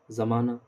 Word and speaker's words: زمانہ: ادا کریں گے اپن۔ ہائے مختفی جس کو چھپا کے، ہیڈ کر کے، وہ واو جو صرف حرکت کو ظاہر کرنے کے لیے آئے، یعنی جس کا تلفظ ادا نہ کیا جائے، ہیڈ کر دیا، چھپا جائے، ادا نہ کیا، جس کا تلفظ ہی ادا نہ کیا جائے، جیسے پروانہ، پروانہ، زمانہ، 15 وغیرہ۔ ہائے مختفی ہو